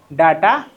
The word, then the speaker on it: data: हैं जिसका नाम है डाटा हैंडलिंग। ठीक है, डाटा बोलो या डेटा बोलो, दोनों ही प्रोनाउंसिएशन सही हैं, उनमें कोई खास दिक्कत वाली बात नहीं है।